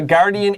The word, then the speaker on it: guardian: 守护天使，厉害，厉害啊！So a guardian angel watching over them. Now guardian 有 GU, but 这个 U 没有发音 You can draw a little X. 你画一个叉叉 Don't say guardian. That's wrong.